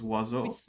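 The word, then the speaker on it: oiseau: french words because um for two syllables wazzo it manages to have uh five vowels for some reason because thanks french i i definitely needed two basically pure vowels to be written with three letters or sorry five letters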